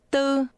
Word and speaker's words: tư: Do you remember how 4 sounds in combination? Say 44. 44. 44. Tư. Tư. 4. Tư. 4.